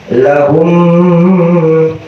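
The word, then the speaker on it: لهم: Cuman kalau di idgham, di musannif menerangkan di gunnatin kamilah di idgham mutamathilain, yaitu harus dijelaskan lahum. Biasanya kalau ngelihat guru itu bibirnya agak agak dimasukin dikit, lahum gitu.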